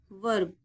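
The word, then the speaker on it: verb: टीई आर M term V ई आर बी वर्ब clear है आगे देखिए जब किसी वर्ड में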